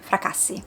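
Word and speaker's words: Fracassi: Don't know how you pronounce in English, but this is a what it sounds at least an Italian surname. So I'm going to pronounce it as it should be pronounced in Italian. Fraasi.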